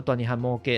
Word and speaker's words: Toanihan Moke: 大尼汉猫，伊的发音是做大尼汉摩格啦。